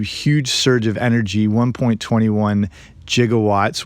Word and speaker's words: gigawatts: surge of energy, 1.21 gigawatts, which can also actually be pronounced gigawatts, but a lot of physicists can go with the G on that one, or the soft G.